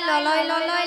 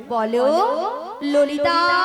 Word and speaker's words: ললিতা: বলে লালাই লালাই ললয় ললয় লালাই লালাই ললিতা। মাসি ওটা লালাই লালাইও নয় আর ললয় ললয়ও নয়, তাহলে বলো ললিতা। লো লো লো। বলো ললিতা, ভালো করে উচ্চারণ করো তুমি।